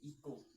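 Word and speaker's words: echo: क्योंकि भाई साहब एच यहां पर जो है वो साइलेंट है। ठीक है? उसके बाद आता है हमारे इको।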